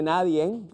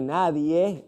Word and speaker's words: nadie: escribir mal por ejemplo si eres de los que dice naden estás en un grave error sin esa n de cierre Nadie es como se debe escribir y pronunciar Este es un pronombre